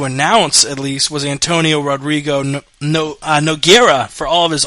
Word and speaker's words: Rodrigo: It's actually Rodrigo. All the Rodrigo pronounces as H. It's like Royce Gracie.